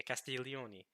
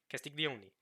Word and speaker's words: Castiglioni: arrived the Italian teacher castillione castiglioni has to be the original uh you know I've got okay if I've gotten better down pronunciation since I've been to Italy I've been to Italy since reading Miracles I've gone better in the Italian pronunciation my attention is here